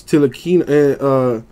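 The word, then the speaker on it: Ntilikina: For the Knicks, Nilakina, the T is silent.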